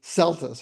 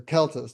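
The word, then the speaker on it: Celtis: One of my favorite trees is the sugar berry in the genus Celtus or Keltus, depending on how you want to pronounce that C.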